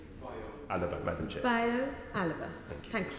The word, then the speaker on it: Alaba: Did I pronounce that correctly? Alaba, Madam Chair.